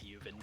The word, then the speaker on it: Ljovynn: For the record, he has stated that it's Ljovynn, but he doesn't really care if you pronounce it wrong.